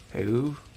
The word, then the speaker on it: Heyo: Hey-oh, like a short laugh and a moo without the M. Hey-oo?